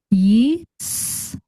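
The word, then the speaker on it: ישראל: Reading from right to left, we have Yisrael. Yisrael. Yisrael. And that is the Hebrew word for Israel.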